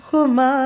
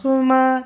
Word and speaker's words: खुमार: है पहला खमा देन अब पहली बार आप खमा मत बोल के पहला खुमार ऐसा बोल सकते हैं ठीक है और खुमार पूरा नहीं बोलना उसको थोड़ा साइलेंटली आप आपको र बोलना है ठीक है पहला नशा